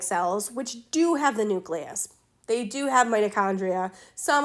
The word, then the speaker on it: nucleus: I'm going to be, it is not pronounced nucleus. As you note, there's no U here between the C and the L, okay? It's pronounced nucleus.